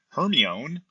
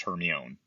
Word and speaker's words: Hermione: Hermione, imagine my surprise when it wasn't pronounced Hermione. I read 2 books pronouncing it that way in my mind before I heard what it was supposed to be.